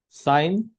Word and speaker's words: sine: Sine. So this is SIN. In short, it is written as sine. So don't pronounce SIN as sin.